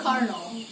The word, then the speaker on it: colonel: Misalnya kolonel dalam bahasa Inggris kan tulisannya like yeah right, tapi bacanya itu colonel, like where does that come from gitu loh misalnya.